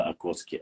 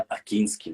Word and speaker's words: Акинский: Мне сегодня сказали, на самом деле правильно говорить не Шейх Мурза Окотский, а Шейх Мурза Акинский нужно говорить.